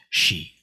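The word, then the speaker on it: 시: When in Sino-Korean, or in Korean, when the letter S is followed by the vowel E, it's pronounced more like the SH in English. Sh. So technically, this is a correct transliteration, but usually I and most people will write it as SHI because it's actually pronounced she.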